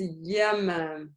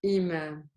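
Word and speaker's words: إمام: So if it was with a ya, how would you read it? Yeah. Exactly. Yamam. This is yamam. This is imam.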